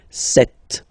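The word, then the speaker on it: sept: all right then here remember B is not pronounced okay doesn't exist so you've got this set sound set set okay then here final T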